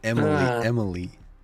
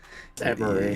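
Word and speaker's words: Emerie: Emery. No, Emily. Emery. You sick bastard. Emery. It's how they say it in the show. It's how it's spelled.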